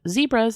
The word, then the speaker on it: zebra: South African originally, so I say zebra with a soft E. We did mention that in the episode. Yeah. And I think I joked about not pronouncing it that way, me personally. But you mentioned that people do pronounce it zebra. It's a British thing.